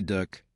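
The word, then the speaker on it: DUKW: Du coup, prononcé Duck, cheœuvre de la logistique, un camion à six roues motrices enloppés dans une coppe de bateau.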